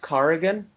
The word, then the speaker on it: Cargan: last name right well can nobody say Corgan right it's pronounced carrian nobody in America say says it right well that's because they're